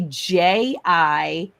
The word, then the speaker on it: jicama: If my jicama, it's actually Jicama is how you spell it. Jicama. It's kind of like when you say Jose.